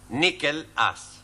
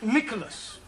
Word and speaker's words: Nicholas: upon a time there was a man called nickel us once upon a time there was a woman called nickel it's pronounced Nicholas all right once upon a time there was